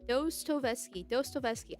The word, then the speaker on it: Dostoevsky: Pronounced dos, like the Spanish word for toe, like Tovesky. Dostoevsky.